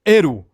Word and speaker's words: L: o padrão japonês mas no caso do L pronuncia-se eru sem contar o fato que